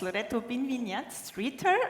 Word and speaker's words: Binvignat-Streeter: It's Loreto Binvignat-Streeter.